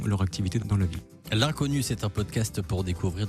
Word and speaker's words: L'unconnu: L'Inconnu, attention, ça s'écrit l'un L'_UN, connu, CO2NU.